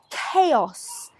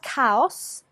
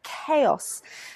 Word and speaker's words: chaos: not cows cows but chaos now this of course is difficult for many latin speakers as of course in your language you have the same word but it is pronounced differently in English chaos chaos now number three